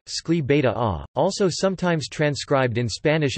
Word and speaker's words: Escalivada: Escalivada Catalan pronunciation, Escli Beta A, also sometimes transcribed in Spanish as Escalibada, is